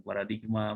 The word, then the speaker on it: paradigm: Nah, paradigma itu adalah pengucapan orang Indonesia. Nah, dari bahasa Inggris tulisannya begini. Nah, begini. Dibacanya paradigm. Paradigm ya.